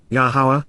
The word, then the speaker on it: Yahowah: this is completely reliable yahawah yahwah the proper pronunciation of yahovah our eloa God has